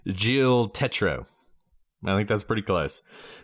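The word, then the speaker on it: Gilles Tetreault: listen to Dart Boutine because it looks like G Tet. That is not how you pronounce his name. His name is Jill Tetro.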